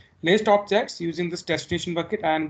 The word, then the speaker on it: obj: So that's why I'm saying list objects using this destination bucket and give me information about contents, and store all these things in the obj variable. I'm calling this object, but it's spelled as obj, so that's why I'm